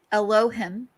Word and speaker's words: Elohim: that Elohim, that's how you say it, is Elohim, is that's the person that they, or the species that they worship, is what created humanity and using their advanced technology. So it's like Leon would be Elohim from outer space.